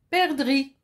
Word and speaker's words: perdrix: vous plaît un étang bien je continue une perdrix pardon ici la lettre miettes ses jets qui ne se prononcent pas je passe et perdrix c'est un